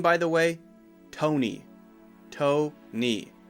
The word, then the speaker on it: Tony: by the way Tony toe knee just like toe and just like knee Tony the next one is